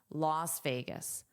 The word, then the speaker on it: Las Vegas: Las Las. The pronunciation and spelling are different. Las Las Las Vegas Las Vegas Las Vegas.